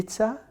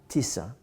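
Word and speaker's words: Tisza: the river right you see how do you pronounce it TI Tisa Tisa Tisa well that was wonderful thank you so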